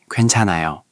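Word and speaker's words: 괜찮아요: Push more air through at the start. Kwen, not wen. Kwen, kwenchanayo.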